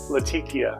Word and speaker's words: Latakia: Something with tiki. Latakia. Yeah, there we go. Like a tiki torch. But not.